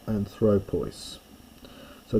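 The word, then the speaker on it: ἄνθρωπος: Now if you're worried about accents and things you might have noticed that it's anthropos with the accent on the alpha in the nominative and then suddenly it becomes anthropu. The accent moves.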